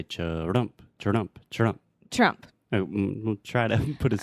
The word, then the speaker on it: Trump: So when I'm thinking about something and I don't know exactly what to say, I say That is the schwa sound, right? So we're saying Trump. Trump.